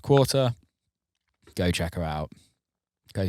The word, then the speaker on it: QRTR: haven't heard of her qrtr uh pronounced quarter go check her out